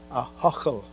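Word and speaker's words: Ahoghill: church in the town i don't expect everyone to be able to pronounce that name a-h-o-g-h-i-l a huckle there was such a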